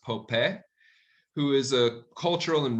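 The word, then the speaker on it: Popé: Then in 1680, a man named Pope, it's going to be spelled like Pope, but it's pronounced Pope, who is a cultural and religious leader for the Acoma and Pueblo Native Americans, organizes a revolt against the Spanish.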